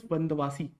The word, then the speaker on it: Vandavasi: of Wendy Bosch actually in Tamil Nadu there is a place called as vandavasi vasi but because of the anglicization of the language the place has been pronounced as Vandy wash now what is the